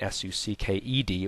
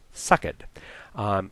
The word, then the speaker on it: sucked: dropping syllables remember that words ending with ed generally pronounced with an extra syllable so if it was pr if it was spelled you know in that line s-u-c-k-e-d would be pronounced sucked if you're going to